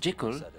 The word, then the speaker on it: Jekyll: Et Stevenson insista toujours pour que son nom soit prononcé Jekyll, d'une part parce que c'est la prononciation écossaise, d'autre part parce que Hyde et Jekyll rimaient avec Hyde and Sick, le jeu de cache-cache.